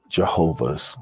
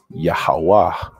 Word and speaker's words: Yahuwah: of israel are actually jehovah's witnesses we're actually yahawa's witnesses okay so why do we say the name yahuwah instead of jehovah okay we use the pronunciation of yahuwah instead of the name jehovah because there's an issue